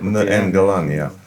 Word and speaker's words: Ngalani: And then there was no place for an exhibition, because really, the MMA fighter, he's Alain Ngalani. Ngalani. Ngalani. N, N, you said it right. Ngalani.